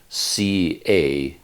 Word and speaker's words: Cati: I constantly get his name wrong because he spells it C-A-T-I, but the C at the beginning is a C-H sound, so his name is Cati.